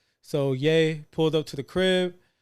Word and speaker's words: Ye: we gotta talk about they ye sorry yay yay yay let me make sure I say it right they dropped the interview